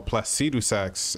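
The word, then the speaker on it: Placidusax: required in the name of my lordus oh plaus saxs is how you say it o ancients dragons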